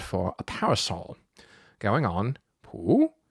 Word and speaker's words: Pú: Now if we say it flat like this poo that's the Dalamese word for a parasol going on poo in an upward tone is the infinitive form